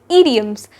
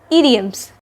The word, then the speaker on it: idioms: So today we'll be looking into idioms, not idioms nor idioms, but idioms. The first I is pronounced as E, hence the correct pronunciation is idioms.